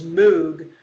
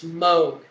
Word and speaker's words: Moog: Now, you'll often hear his name pronounced as Moog, but today they've corrected it and it's Moog.